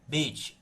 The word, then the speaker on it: bet: do sinal massorético aqui para indicar que a pronúncia não será com a pronúncia com o som de letra V, mas com o som de letra B. Então, é bet.